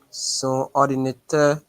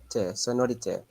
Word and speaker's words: son ordinateur: Son ordinateur. All right. So Oh, where wait, is the no. liaison there? Sonorité. No. Try again, Giovanni.